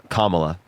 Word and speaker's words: Kamala: you don't know her name how do you pronounce it is it camela or Kamala Kamala okay yeah why don't you just say Harris